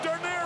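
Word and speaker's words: Dernier: Look at Denier run. Holy cow. I'd like to have $2 on his nose. Denier, which rhymes with deer, means last in France.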